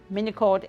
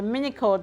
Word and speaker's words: Minycled: try the clothes on Mini cord is spelled m i n y c l e d so mini code the name is minimalist recycled so it's a combination